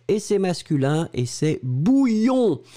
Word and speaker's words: bouillon: Deuxième chose, c'est un substantif et c'est masculin et c'est bouillon. Souvenez-vous, prononciation y-y-y-y-y, bouillon.